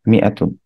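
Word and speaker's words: مائة: মিয়া, তারপরে এভাবে লিখে তুন লিখবো, মিয়াতুন। আচ্ছা, মিয়াতুন is written with an alif which is not pronounced.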